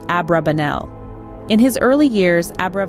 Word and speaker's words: Abrabanel: the rabbis of God favoring the pronunciation abrabanel in his early years